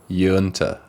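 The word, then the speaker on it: Uinta: No, it's 1065 Yunta Way in Denver, and it's Yunta is like you enter. Yunta.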